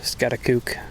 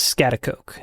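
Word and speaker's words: Schaghticoke: Well, I'm up on Scatakuk Mountain. I believe that's how it's pronounced, not 100% sure. Scatteratak. Scatakook. The correct pronunciation is scatakoke.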